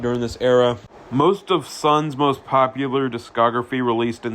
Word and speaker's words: Sunn O))): The most popular band, Sun O, which I'll get to a little bit later, initially was formed as a tribute to Earth. And yes, I know it is pronounced Sun, but I could care less.